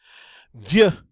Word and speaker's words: vieux: Hey, the next one, vieux in the masculine, vieux. Of course, we don't pronounce that final X. That would just be rude.